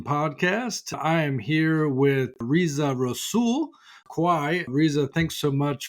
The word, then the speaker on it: Reza Rassool: the future driven podcast I am here with RZA rosul qu RZA thanks so much for coming on the show and did I pronounce it correctly yes you did Adam thanks